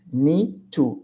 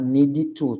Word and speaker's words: need to: andar falar dormir sair you need to go very pronunciation Connect nicho nicho não pode falar need to tá não tenho e depois dormir bem muda nem aí conecta com o tio nicho you you got it